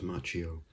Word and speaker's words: Macchio: done interviews and things i've heard some people not seen as ralph macchio and some people as ralph macchio but i'm pretty sure it's machio as the correct pronunciation i won't print i